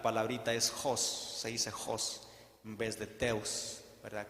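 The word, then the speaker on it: ὅς: se le puso Dios es no es Host pronuncia Host y significa dice incluyendo el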